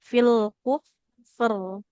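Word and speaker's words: فِي الْكُفْرِ: Kemudian huruf ro sukun kan huruf ro-nya berubah jadi sukun, maka dibacanya tebal karena harokat terdekatnya adalah dhammah ya seperti itu. Fil kufr, fil kufr seperti itu.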